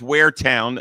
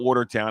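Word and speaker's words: Waretown: I'm just giving you and it's wear town, not Watertown.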